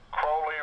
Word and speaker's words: Crowley: I think it's Crowley. I have half a dozen friends who are in the OTO here in Columbus, Ohio, and I have been corrected officially that it is Crowley rhymes with Ole.